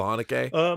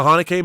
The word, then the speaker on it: Haneke: How do you pronounce that right? Michael Haneke? Michel Haneke.